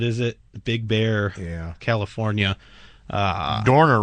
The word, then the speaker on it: Dorner: Dorner rhymes with corner.